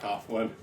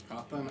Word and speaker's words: Cawthon: They arrest Scott Cawthon. Cawthon? How do you say his name? Cawthon. Cawthon? Okay, it wasn't that bad. Cawthon. I added an A where there was no A.